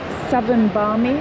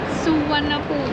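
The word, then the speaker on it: Suvarnabhumi: Is it southern bi? Yeah. Suanabu. We were so wrong.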